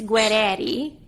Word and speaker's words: Guerreri: I've always wondered them guerrari guerreri but if we're saying it but if we're saying it in Italian it's guerreri oh that's fancy I